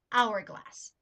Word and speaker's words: hourglass: very different than an hourglass the H is silent in the second example meaning you would choose